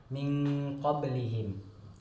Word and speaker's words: min qablihim: Cara membacanya adalah disamar-samarkan antara izhar, antara jelas, dan gunnah dan dengung. Jadi antara jelas dan dengung, jadi bacanya samar-samar, min qablihim.